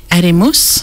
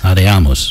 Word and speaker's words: Adiamus: you have to correct my pronunciation. Adimus? Adiamus. Adiamus, that's it.